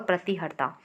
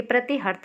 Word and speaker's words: प्रतिहर्ता: ये प्रतिहर्त नहीं, ये प्रतिहर्ता है।